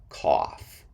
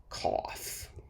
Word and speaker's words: cough: with a f sound these o-u-g-h words sound like off at the end ah cough cough trough which is a